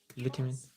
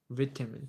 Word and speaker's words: vitamin: Vitamin vitamin vitamin vitamin vitamin vamin vitamin vitamin vitamin. So again we have that flat the vitamins vitamin and also the vowel changes vitamin vitamin vitamin.